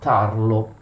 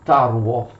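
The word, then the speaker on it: Tarło: under the leadership of adam tarlo actually pronounced taruwa adam taruote lencinsky tried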